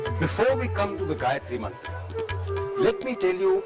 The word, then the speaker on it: Gayatri: Gayatri has three syllables: ga, ya, tri.